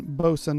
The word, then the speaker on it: boatswain: with a silver whistle phonetic spelling beau sun bosun is attested from 1840 fowler 1926 writes the nautical pronunciation bosun has become so general that to avoid it uh is more affected than to use it i like that that's